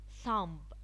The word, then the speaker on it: thumb: Thumb, thumb. Design, thumb. The B is silent.